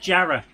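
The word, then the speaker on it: Jarrow: it's Pon yeah and Jara yeah and also it's spelled jarro but everyone calls it Jara cuz o w in a Northeastern accent is an a sound what about hke hke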